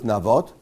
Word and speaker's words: Naboth: of naboth i think as i say in english naboth how do you say that in english i think so yeah it probably would be naboth right yes i guess nabath in hebrews navot uh in english i